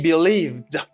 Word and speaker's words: believed: They think with the past form of the verb to be, and you should say they believed. You pronounce ed as d.